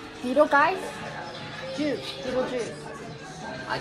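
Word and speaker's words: Beetlejuice: Beetle guys. Beetle guys? Juice. Beetle juice.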